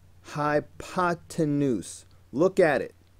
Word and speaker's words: hypotenuse: kids who can't say hypotenuse. Look at it. Look at how it's spelled. Hi-pa-ten-oose. Hypotenuse.